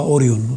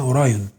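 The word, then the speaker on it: أوريون: بتقول ان نجومين هم يعني بيترجموها كده وبينطقوها اوريون طب هي اسمها اوراون ان نجوم اوراون في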